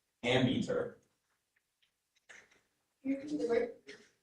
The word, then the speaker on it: ammeter: Your word is ammeter.